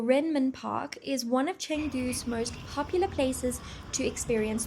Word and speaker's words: Chengdu: Changdu. Changdu. Changdu is how the locals say it.